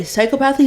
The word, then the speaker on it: psychopathy: You're supposed to say psychopathy, psychopathy. Yes. Damn. Psychopathy. All right. Which is how normal. I would think normally. I've been blowing that. You're supposed to say it like that.